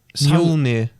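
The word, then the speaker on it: Mjölnir: Mjolnir, that's how you pronounce it.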